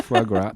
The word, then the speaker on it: foie gras: Yeah, foie gras.